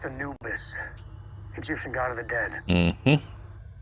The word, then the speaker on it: Anubis: the ship was vented interesting guess it's pronounced Anubis Egyptian god of the Dead that's the one